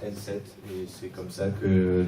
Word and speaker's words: ENSEEIHT: Tout simplement, on prononce N7 et c'est comme ça que l'identité de l'école se forme un peu partout.